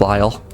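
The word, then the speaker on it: Liel: what oh right yep that was fake Lyle that was ly but it's spelled l i e l um yeah I think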